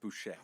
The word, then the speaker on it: Bossier: The Bossier. spelling is Bossier. I believe it's pronounced Boucher. Well, it's like the parish that I grew up in because we didn't have counties.